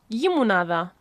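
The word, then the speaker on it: llimonada: Again, it's that double l sound at the start, like lliya, but yeah, limonada.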